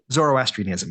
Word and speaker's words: Zoroastrianism: belong to oh I don't know how to pronounce this in in in English Zoroastrianism Zoroastrianism yeah thank you um so and um the